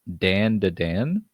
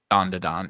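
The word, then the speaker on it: Dandadan: You might be familiar with this and help me pronounce it. Winter Jam picks Dan to Dan. Don to Don, yeah.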